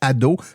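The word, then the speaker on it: Ad'haut: Donc, vous tapez dans n'importe quelle application de podcast Ado, mais attention, ça s'écrit AD apostrophe H-A-U-T.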